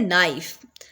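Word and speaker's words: knife: करेंगे नौ बोलेंगे फिर है नाइफ नाइफ के अंदर किस चीज को हम कर रहे हैं साइलेंट के को एन से स्टार्ट करें नाइफ राइट राइट के अंदर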